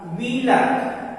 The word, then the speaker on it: wheeler: फिर WHEELER, तो यहाँ H साइलेंट होगा, कहे W के बाद है, इसका सही प्रोनाउंसिएशन होगा व्हीलर, ना कि व्हीलर।